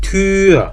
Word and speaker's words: Tür: 옴라우트는 입모양이 바뀌면 안 되는 거예요. 우 한 상태에서 입모양 그대로 두고 이만 발음하니까 위가 아니고 어떻게 된다? 위 아니에요. 그러니까 이대로 발음하면 Tür.